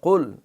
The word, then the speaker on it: قل: پہ غور کر لیں۔ قل، یہ قاف کڑاکے کے ساتھ حلق سے نکلے گا، ابھی ہم نے